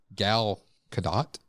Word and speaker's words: Gal Gadot: and you'll have to help me with the pronunciation of her name. But Wonder Woman, Linda Carter or Gal Gadot?